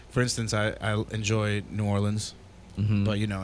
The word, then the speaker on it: New Orleans: instance i i enjoy new orleans but you know it's tough to live there or the locals say nollens yeah yeah but that